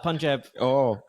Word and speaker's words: Punjab: do we want to talk about Punjab we first, and then we'll finish the big finish? Yeah, with the big finish. We're gonna We can talk about Punjab Kings. Can we talk about Punjab Kings?